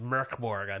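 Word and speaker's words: Mörk Borg: metal game oh yeah mork borg and uh it's actually pronounced mirkborg american beer but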